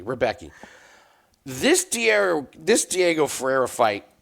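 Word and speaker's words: Rębecki: And I believe his name is pronounced Rozbecki. Every announcer pronounces it different. So if you want to give me shit for how his name is pronounced, fine. I'm going phonetically. Rebecki.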